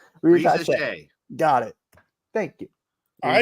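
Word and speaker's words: Risacher: I still can't pronounce it. Reza Shea. Reza Shea.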